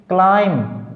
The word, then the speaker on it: climb: CLIMB क्लाइम, B silent.